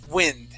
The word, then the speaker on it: wind: But this word is the noun. Okay, this is wind. Please repeat that. Wind.